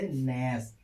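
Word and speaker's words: gnash: जी से हो, क्या, जब किसी वर्ड की शुरुआत जी से हो और उसके तुरंत बाद एन आए तो जी का उच्चारण नहीं होता है।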